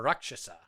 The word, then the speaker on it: Rakshasa: Well, Cirrus is a Rakshasa, or Rakshasa, as it's pronounced properly.